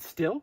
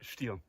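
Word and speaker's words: Stihl: Now, how do you pronounce that name? Is it Still? Stiel.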